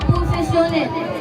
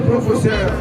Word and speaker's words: professionnel: S'il y a deux N, vous prononcez distinctement N, N.